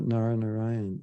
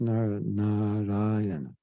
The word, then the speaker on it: Narayana: the house of Dharma it's not actually not Narayan it's Nar naray we English speakers or speakers of other languages don't we we not used to pronouncing long syllables so it's actually n